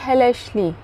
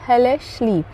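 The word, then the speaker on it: hellishly: निंदा करने जैसा हो हमारा अगला वर्ड है हेले स्ली लेस्ली हेले स्ली ठीक है एच E double L आई एस एच एल वाई हेले शली जिसका अर्थ है नीचता से एक तरह से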